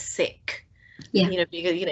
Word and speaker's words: Sikh: it was called being seek uh well the correct pronunciation is sick yeah you know you